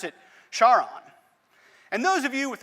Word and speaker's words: Charon: pronouncing the name of this moon right i pronounce it charon and those of you with a classical education